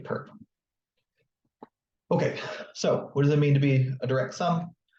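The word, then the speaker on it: ⊥: The orthogonal complement of W is another subspace of V, which is denoted W with this symbol up here, which is usually pronounced perp.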